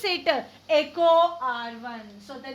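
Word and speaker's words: EcoRI: So how to pronounce it? Echo R1. So the name of the enzyme is Echo R1.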